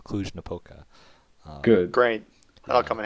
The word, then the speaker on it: Cluj-Napoca: from the term and I learned how to pronounce cluj-napoca good great I'll come in handy yeah definitely